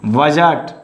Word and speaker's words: budget: Budget. Silent letter is D.